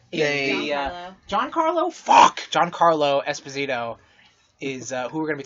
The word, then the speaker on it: Giancarlo Esposito: announced that, oh my god, how do you pronounce that name, babe? Juancarlo Esposito. Giancarlo? Fuck! Giancarlo Esposito is who we're going to be talking about later.